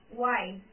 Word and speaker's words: why: We need not to spell it. Second, why.